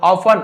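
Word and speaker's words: often: लेकिन फेट यानी भाग्य जिसे किस्मत बोलते हैं ना ऑफन अक्सर टी साइलेंट है।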